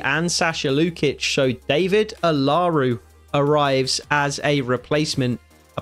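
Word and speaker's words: Olaru: And I did get his name wrong. It's actually Darius Alaru.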